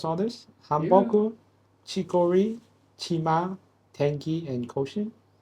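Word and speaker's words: 한복: This is called hanbok. Hanbok. Han. How do you say it? Hanbok or hanbok? Hanbok. B-O-K. Hanbok. Okay. I'll say B-O-K. Hanbok. Hanbok. Okay.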